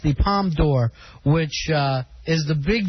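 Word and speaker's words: Palme d'Or: bad stuff about bush won the palm door is that how it's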